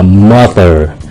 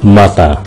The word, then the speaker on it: mother: Người Mỹ đọc là mother, người Anh đọc là mother.